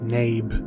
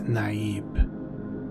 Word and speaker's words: Naib: is a leader among the Fremen some may pronounce it name but it is naive like these were a group of famine a